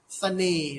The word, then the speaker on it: เสน่ห์: อะไร ครับ คำ นี้ คำ นี้ อ่าน ว่า เสน่ห์ ครับ เสน่ห์ นะ ครับ เสน่ห์ คำ นี้ ก็ ใช้ ตัว ขอ ขีด นั่น เอง นะ ครับ